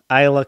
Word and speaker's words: Isla: Isla. Isla, like, it's like how you pronounce island. It's Isla. abantu basinga mu Uganda bamwita isla naye nga it's like it's island.